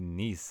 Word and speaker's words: Nice: guess isn't it sure pronounced like the vanity it's why they had to cite that three times um this guy I don't think I mentioned it revealed how you should really pronounce nice biscuits and it doesn't and it doesn't rhyme with mice have you been pronouncing